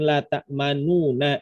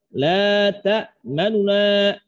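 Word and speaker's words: لا تأمنا: Nu-nya dibaca sepertiga harokat atau rada cepat.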